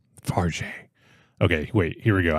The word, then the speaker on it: Fargeat: It is pronounced Farge.